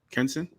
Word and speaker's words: Kenson: Well, the more I look at these updates, I gotta agree with Kenson. Is that how you pronounce it, Kenson? Yes. Yep.